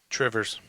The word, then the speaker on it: Two Rivers: It's Two Rivers. It's pronounced Trivers.